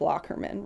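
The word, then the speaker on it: Lockerman: lot of time so I'm making sure to say it right its locker men right yes okay good the locker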